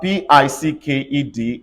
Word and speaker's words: picked: e d everybody say packed if I have p i c k e d everybody say picked yes about P if I